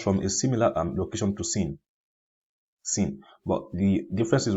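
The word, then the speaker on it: سين: After Zayun comes this letter here called Sin. Sin is pronounced using the tip of the tongue and between the plates of the two front top incisors, like so. Here, this region here.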